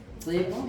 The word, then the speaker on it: Tlepo: Tlepo, yes, is an experienced plasterer.